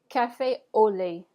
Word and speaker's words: cafe au lait: allow you time to repeat the word so cafe au lait Cafe Le Cafe Le awesome all right the